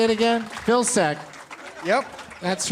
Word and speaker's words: Vilcsek: Vilcsek.